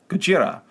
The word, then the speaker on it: ゴジラ: cinema's most iconic characters godzilla or gujira for closer pronunciation of the japanese name released in 1954 on